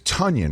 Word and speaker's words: Tonyan: It's Tonyan, Get right? better. It's Tonyan, Yes. right? Yes, sir. Rhymes with Funyun? Is that how it basically it is?